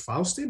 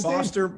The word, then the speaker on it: Foster: that is uh faust faustin is that how you pronounce it foster foster foster awesome right i don't know